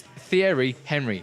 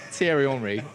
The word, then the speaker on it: Thierry Henry: It's Thierry Henry. It's not Thierry Henry. All right. Let's just get it right.